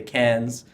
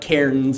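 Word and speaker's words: Cairns: from Sydney up to Cannes as the locals call it not carotenes as it looks like on the map for us Canadians that's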